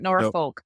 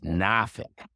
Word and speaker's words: Norfolk: Norfolk is pronounced Norfolk. not Norfolk. No, I think you should pronounce it the way the people that live there pronounce it, and it's Norfolk. if you're really been there for a long time, it's Nafik.